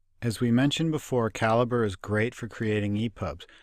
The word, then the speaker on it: Calibre: I'd like to point out that the the pronunciation is caliber you may hear it pronounced Callie Bray Orko libre but the creator of the program